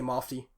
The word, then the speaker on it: MOFD: So it's M off D, and then just because of the saying it fast, people would just say Mofty. So that's how they pronounce it.